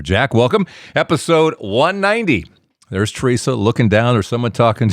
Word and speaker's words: Tresa: spelling here teresa kinda it's teresa like a tree outside you can thank my